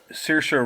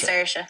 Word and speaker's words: Saoirse: Like I'll even say this, like even Saoirse Ronan or Help me out with Saoirse.